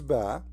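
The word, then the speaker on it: ب: However, all the letters when we pronounce them by themselves they come as if there is ah at the end. All right? So, this is ba as we see here.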